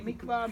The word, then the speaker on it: mikveh: Can we learn this word mikveh? M-I-K-V-A-H? Mikveh. It can be mikveh, mikveh. Doesn't matter how you pronounce it.